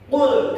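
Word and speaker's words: قل: Qul kalimat qul di situ qof ya. itu agak mendalam makhrajnya. Jangan sampai salah, Pak. Karena nanti kalau misalkan kita bacanya salah secara makhraj, beda maknanya. Misalkan kita baca makhrajnya qof dengan kaf. Jadi qul qul qul qul qul. Itu maknanya bukan katakanlah, tapi makanlah.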